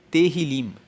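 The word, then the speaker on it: Tehilim: No texto hebraico, o livro de Salmos se chama Terilim. Se escreve T E H I L I M. E Terilim, traduzindo para o português, significa louvores.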